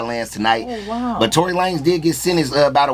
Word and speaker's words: Tory Lanez: Tory Lanez.